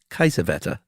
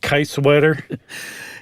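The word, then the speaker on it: Kiesewetter: Can I correct your pronunciation? Yeah. I believe that would be Kaiswetter. That's much better. What did I say? Kaiswetter?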